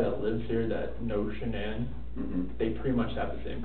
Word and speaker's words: Shanann: And I don't want to pronounce her name wrong, Shanann?